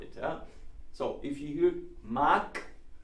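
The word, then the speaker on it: mag: maxed see ma yeah it's written with the G but it's pronounced as it was a K this is a phenol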